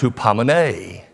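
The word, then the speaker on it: ὑπομονή: Now, the second word in the Greek is pronounced hupomene.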